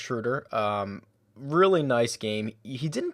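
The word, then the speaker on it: Schröder: It's pronounced Schroeder.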